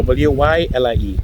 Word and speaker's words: Wylie: No, W-Y-L-I-E. So I W-Y-L-I-E. So Oh, that's normally when I spell it for people, I say Wylie.